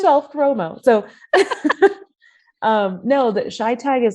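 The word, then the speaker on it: ChiTAG: So Shy Tag for short.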